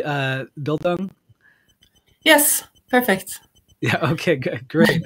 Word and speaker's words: Bildung: So first off, am I pronouncing this word correctly, Bildung?